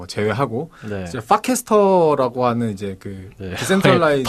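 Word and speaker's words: Farcaster: 디파이 이런 거 범죄에 관련된 거 제외하고 이제 파캐스터라고 하는 이제 디센트럴라이즈 발음이 진짜. 발음이 파입니다. F-U가 아니고 F-A입니다.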